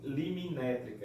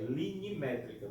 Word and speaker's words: linimétrica: Pronuncie isso aí direitinho para não falar limimétrica. É linimétrica, tá?